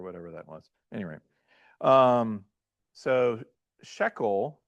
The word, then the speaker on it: shekel: Well, there's an accent mark, okay? Similar to how in Greek you have accent marks to make sure you're putting the right emphasis on the right syllable, right?